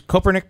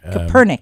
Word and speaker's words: Kopernik: This is Copernic Park? Kopernik. Kopernik. I always wondered how that's pronounced. Yeah, Kopernik. The Polish community takes wonderful care of that statue, and the city's doing a great job.